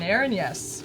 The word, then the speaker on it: erinyes: Aranyes. Uranus. Aaron, yes. Aaron, like Aaron Yes. Yeah, it's got yes baked right in.